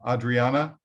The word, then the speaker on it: Adriana: go Randy no no the pastor is uh Adriana and it's spelled uh you pronounce it Adriana but it's